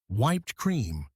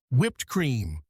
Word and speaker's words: whipped cream: Oh, it is wiped cream. Close. Remember the sound. Whipped cream, whipped cream.